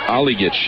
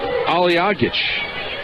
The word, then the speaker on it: Hadzialic: That's an illegal screen right there on Hadzialic. Hadzialic. I think I'm forgetting that syllable there. You got to get the aw in there. I've just been going Aligic. It's Aliagic.